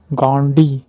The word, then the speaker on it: गांधी: Mahatma गांधी, right pronunciation गांधी, that means Mahatma गांधी जो है was wandering villages and cities to collect funds for चरखा संघ।